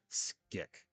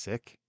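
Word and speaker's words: Scyk: GNA look it up here real fast Privateer skick SC YK I'm not sure I'm pronouncing that right so the Carabas play from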